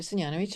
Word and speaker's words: Senjanovic: So like you said, my name is Syanovich and very well done. I practiced prior um with the pronunciation.